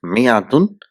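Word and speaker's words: مائة: So 100 in Arabic is written as mi'atun or mi'atun. I mean, if you see here in the first one where there is alif after the meme, it is only written but it's not pronounced, which is the most common way.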